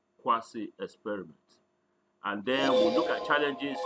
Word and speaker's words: quasi: experiments at the US the pronunciation is quayside but here we want to call it quasi experiment and there are